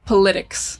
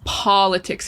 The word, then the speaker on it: politics: In Spanish, it's política. The second syllable is stressed. The second vowel is stressed. So a lot of times students will say politics, right? Because they're doing the same. But if you remember it's politics and you try to